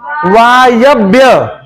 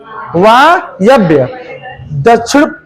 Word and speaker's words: वायव्य: उच्चारण भी बोलने आना चाहिए, वायव्य, वायव्य।